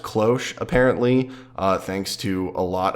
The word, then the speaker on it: cloche: lot of people in those videos pronounce it claw SHhhh it's pronounced cloche apparently thanks to a lot of different websites